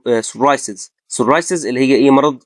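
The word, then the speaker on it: psoriasis: طيب لو جه الاس وراها بي أو البي بعدها اس، هنا في الحالة دي البي بتبقى سايلنت. تمام. يعني إيه؟ يعني بننطقها اس على طول. زي إيه مثلا؟ سايكاتريك. سايكاتريك طبعا معناها اللي هو إيه الطب النفسي، أو سايكولوجي علم النفس، أو سورايسز.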